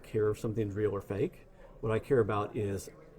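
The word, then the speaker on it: FAIK: It's called Fake. It's spelled F-A-I-K because it's fake and there's AI in the middle.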